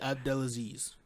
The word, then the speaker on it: Abdelaziz: ] his name what was that again Ali abdelaziz oh you said it right then you did